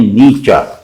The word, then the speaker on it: Nietzsche: اب آج کل کہتے ہیں نیچا. اب فضول بات ہے، نیچا کہہ کے کچھ سمجھ ہی نہیں آتا.